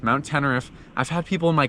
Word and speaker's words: Teneriffe: Well, we actually are at Mount Sai, but we're going to do Mount Tenneref. That's how it's pronounced. Mount Tenneref.